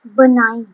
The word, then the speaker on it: benign: ये रही इसकी प्रोनाउंसिएशन बेनाइन।